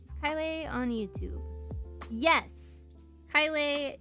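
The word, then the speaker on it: Caelei: Kylie is spelled like this.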